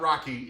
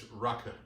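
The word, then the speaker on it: rakı: It's not Rocky, it's Raku.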